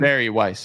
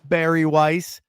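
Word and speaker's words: Bari Weiss: And I find that number very interesting because Bar Weiss, is that how you say her name? Barry Weiss. Yeah. Barry Weiss, that was the number she was offered for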